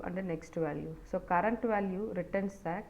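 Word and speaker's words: NEXTVAL: have current value and next value so actually we pronounce that current value and next value so but the syntax will be c r v a l Cur well and next Val well so these are the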